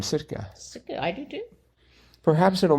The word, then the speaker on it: Sitka: First capital of Alaska, Sitka. Right. I wanted it to be long A, except it isn't. It's a short A for Alaska.